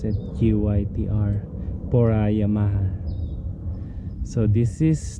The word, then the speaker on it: GYTR: That's how you pronounce it, GYTR, for Yamaha.